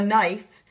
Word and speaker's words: knife: k is for a knife you spell knife k n i f e it has a silent k in front of it like the word knock okay knife and you